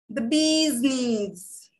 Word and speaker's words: bee's knees: the long vowel sound you have to stretch it okay you stretch your lips the bee's knees right